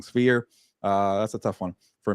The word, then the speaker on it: Sphere: Berlanga, Canelo, UFC's Spear or Sphere. I keep saying it wrong. Sphere.